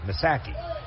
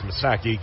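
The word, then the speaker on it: Missaki: that I apologize but he spells his last name m i SS a k i masaki righty on Lefty first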